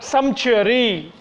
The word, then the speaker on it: sumptuary: Sumptuary. S-U-M-P-T-U-A-R-Y. P is silent over there.